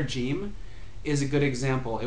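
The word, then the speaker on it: جيم: these places, and then it would be like a G sound in Egypt.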